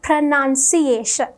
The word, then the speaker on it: pronunciation: the noun the correct way to pronounce it is pronunciation so I hope you have learned something new